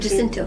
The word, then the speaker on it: Jacinto: Narrated by, of course, Michael Schur, Kristen Bell, Darcy Carden, Ted Danson, William Jackson Harper, Manny How do you Jacinto. say it? Jacinto, thank you.